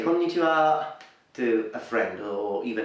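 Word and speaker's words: こんにちは: So hello is konnichiwa, konnichiwa. So let's break it for the pronunciation. Ko-ni-chi-wa, konnichiwa, konnichiwa, konnichiwa.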